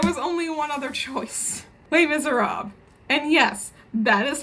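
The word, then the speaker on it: Les Misérables: Les Miserables. And yes, that is how you pronounce it, Kaz. It is not Les Miserables. It's Les Miserables. The S is silent.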